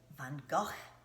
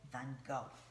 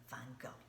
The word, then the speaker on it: Van Gogh: how they say it in the Dutch language in the Netherlands now in America we say mr. Vincent van Gogh just like to go somewhere van Gogh I'm going to read